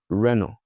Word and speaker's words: Renault: But that's not how they pronounce it. In fact, it's quite easy. You see Renault. Renault. The T at the end, you delete. Renault.